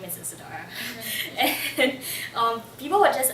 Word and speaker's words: Isadora: nice to meet you Isadora that's like four syllables it's like can I